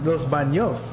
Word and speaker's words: Los Banos: yes yes yes uh Los Banos pronounced Los Los BOS okay Los BOS like the bathrooms in Spanish my Spanish is terrible